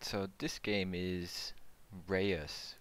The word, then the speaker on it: Reus: so this game is Reyes Reyes Reyes I know the pronunciation the name is re us and let's see if